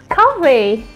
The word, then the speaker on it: 커피: Next one is coffee. So it's coffee in Korean. Coffee. You have to pronounce F like P because we don't have F sound in Korean.